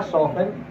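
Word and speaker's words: soften: कभी कभी T silent भी होता है, टी साइलेंट के लिए लिखेंगे ऑफन और सॉफन और बॉसन। ठीक है, टी नहीं पढ़ रहा है।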